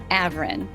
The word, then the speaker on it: Avrin: I am thrilled to bring you David Avrin.